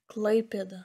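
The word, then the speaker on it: Klaipėda: Say it, Klaipeda. Really? It's Klaipeda. Hey, it's Klaipeda. Yeah, we're teaching you how to say.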